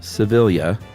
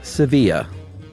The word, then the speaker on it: Sevilla: And that is from Consuelo Sevilla, not Sevilla. She wrote back even. Wow. And There are said- 2 L's? Yeah. She said this is the Filipino pronunciation, not the Spanish.